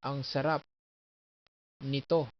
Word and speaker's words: ang sarap nito: So you accent this. Ang sarap nito. So that's the accents. So never say ang sarap nito. So basically some Tagalog words are have accents on the last parts.